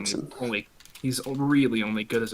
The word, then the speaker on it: Thorbjornsen: The highest TP running back in this game is going to be Gunnar Thorbjornsen at 1147, and It's he's pronounced really Turkson.